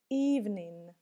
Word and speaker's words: evening: Evening, evening. Тут мы видим опять инговое окончание. Помним, что последняя буква не читается.